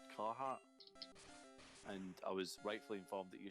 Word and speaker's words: Carhartt: It's called Carhartt. Is how it's pronounced.